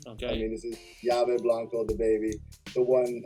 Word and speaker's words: Yave: Our key, Yave means key in Spanish. And the reason it's spelled Y-A-V-E is because we spelled it phonetically. So in Spanish, it's spelled with 2 L's, but if you don't speak Spanish, it's La Lave or some weird word, so it's Yave.